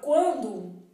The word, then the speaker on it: quando: não é quando então na palavra quando eu tenho cinco fonemas e 6 letras sendo que a letra n é indicativo de Nasal e não é pronunciada bom na palavra